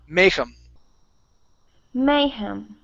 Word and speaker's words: mayhem: word Mayhem okay so the stress is at the very beginning of the word mayem mayem okay good one more